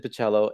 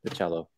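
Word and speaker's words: Bachalo: They all pronounce it Bacello. And then I went on to, he has a YouTube video that has him doing the ice bucket challenge like many years back. And he introduces himself and he pronounces it Bacello.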